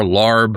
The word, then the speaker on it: larb: What are you doing with and I'll pronounce this, I guess you pronounce it lob. Love. In some Thai restaurants, I've seen it pronounced with an R, larb.